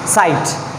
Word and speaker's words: sight: SIGHT, this is साइट। यहाँ पे भी जो G और H जो है वो क्या है? साइलेंट है।